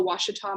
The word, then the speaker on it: Ouachita: want to address that it is hard to pronounce watchtop especially if you've never seen the word before it's o-u-a but it makes the w sound we are in the foothills of the ouachita mountains in arkansas as